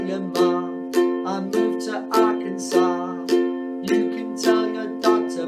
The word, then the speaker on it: Arkansas: i moved to arkansas so it's not arkansas arkansas so it rhymes with ma you can tell your